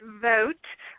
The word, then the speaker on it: Vogt: Okay, my name is last name is pronounced vote like voting in an election, but I um I answer to any way people pronounce it.